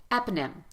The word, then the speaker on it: eponym: the vowel at all listen when I say it eponym eponym eponym I almost skipped that syllable completely you reduce the vowel so much that it sounds like it's not even there and that my friends